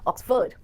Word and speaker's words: Oxford: उसका admission ऑक्सफोर्ड university में हो गया है, या फिर आप ऑक्सफोर्ड डिक्शनरी यूज करो, ऑक्सफोर्ड नहीं, ऑक्सफोर्ड, FORD will be pronounced as ford here, Oxford.